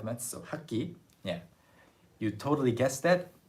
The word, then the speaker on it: 학기: 학기. It sounds like 학기.